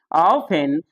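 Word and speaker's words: often: T silent है castle ऑफेन ऑफेन में T silent है बोलेंग ओ एफ ई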